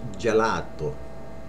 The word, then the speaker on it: gelato: A lot of people say gelato, which is right, but without the accent. It's gelato.